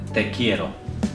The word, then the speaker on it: te quiero: in Spanish you say te quiero te quiero yeah pronounce that r as in letter kielo I can't tell you very soft roll thank you yeah yeah